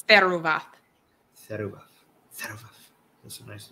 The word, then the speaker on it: Theruvath: How do you say this? Theruvath. I think it's Theruvath.